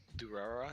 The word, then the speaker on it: Durarara: That's how you pronounce that? Durarara, yeah.